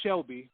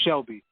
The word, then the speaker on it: Chelby: it yeah it's spell it's pronounced Shelby but it's it's um it's with a CH because my daughter's name